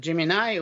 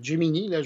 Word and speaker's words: Gemini: force de de de Jimini ou Jimini moi je je le prononce en français c'est qu'il il puie